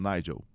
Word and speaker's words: Nigel: pronuncia seu nome desculpa é Nigel ou Nigel aíe falou Nigel Nigel aí eu falei Ok